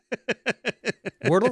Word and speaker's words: Wordle: Wordle rhymes with turtle, and turtles are awesome.